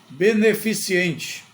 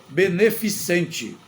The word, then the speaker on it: beneficente: letra C outra palavra beneficiente a palavra correta é beneficente não tem o i beneficiente não existe neste caso beneficente que